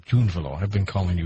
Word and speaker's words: Drunvalo: That's how you pronounce it. Drunvalo. I've been calling you Drunvalo.